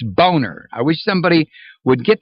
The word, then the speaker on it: Boehner: economic strategy obama mentioned boehner's name several times and obama keeps mispronouncing it it's not boehner it's boner i wish somebody would get that across the president this guy's name is boner boner he named him